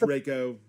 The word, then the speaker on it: Reiko: That was Reiko? Reiko. Did I say it right this You're time? getting closer. I'm gonna get it. I'm gonna get it. That's Reiko.